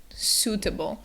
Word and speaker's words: suitable: They're making an oo sound, so it's suitable. The other thing to keep in mind is that second syllable has the schwa sound.